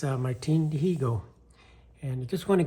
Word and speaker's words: Dihigo: And in Spanish, that's how you say, you don't pronounce the H, so it's Martin Dihigo, but it's Martin Dihigo.